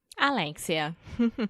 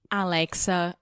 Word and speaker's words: Alexia: And today I am here with the one, the only, Alexia. Not Alexa or Alexis or Lexi. Alexia, guys.